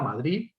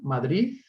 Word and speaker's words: Madrid: En el caso de la D final, una palabra como Madrid, En el castellano de Cataluña tenemos 4 variantes. La variante prestigiosa, la D aproximante relajada, Madrid. La pronunciación como una Z, Madrid.